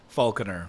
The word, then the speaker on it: Falconer: Falconer. Falconer. That's like what I the thought, bird falcon with an ER on the tail.